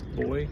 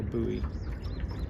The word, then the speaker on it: buoy: I mean, you can see the current over there on that buoy. Boy. I've heard them pronounced so many different ways. That's not true. Mostly just 2 different ways. Boy or buoy.